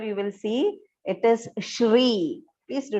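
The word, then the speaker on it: श्री: mane here you will see it is shri please do not pronounce it as sri okay the next mistake that commonly we hear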